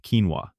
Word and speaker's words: quinoa: Quinoa. Don't let the funny spelling fool you. It's pronounced quinoa.